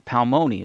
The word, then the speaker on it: Palmoni: Palmoni is what we're pronouncing.